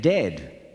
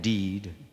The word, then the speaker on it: dead: sounds like bird and dead it's said like bed not bead for goodness sake don't call it deed watch out for meat